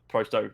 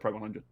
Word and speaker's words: pro100: I've never heard it called Prosto, but I don't actively follow the Prosto roster, so I have always called it Pro100.